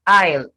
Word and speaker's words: isle: the one without the a then i mean i'll i-s-l-e the short form of island i-s-l-a-n-d then